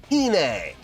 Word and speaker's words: Iine: comments giving me some coaching on how to pronounce this correctly so it's attuned by a Babymetal called Hine watch now have I heard the song before